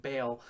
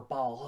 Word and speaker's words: Baal: god she believed her god which was named baal or baal however you want to pronounce it was the real god and she